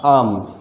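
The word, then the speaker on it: I'm: जैसे आई एम हो जाएगा आम, इसका प्रोनाउंसिएशन होगा आम, जो मैंगो का होता है।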